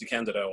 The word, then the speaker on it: DeCandido: And yes, it's pronounced DeCandido.